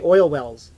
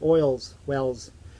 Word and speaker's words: Oil's Well: I always say it wrong. I want to say Oil Wells, or Oil's Wells. It's Oil's Well.